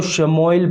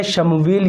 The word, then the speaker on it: شمویل: حضرت شمویل علیہ السلام، بعض حضرات کو شموئیل پڑھتے ہیں لیکن یہ شمویل، یہ اس کا صحیح تلفظ ہے۔ نمبر 29 پر نام